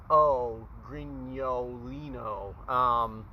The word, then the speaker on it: Grignolino: I don't know, because it doesn't even say Grignolino on here. Anyway, there's two G's in it. It's that G-N-O, Grignolino, that I guess it's hard for Americans to pronounce.